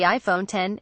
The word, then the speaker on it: iPhone X: it has to be the iPhone X pronounced as the iPhone 10 Apple's 10th anniversary edition